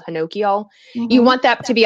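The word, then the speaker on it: honokiol: n o ki o L it looks like ho no Kyle but apparently the proper pronounce called Hinoki all you want that to be a high percentage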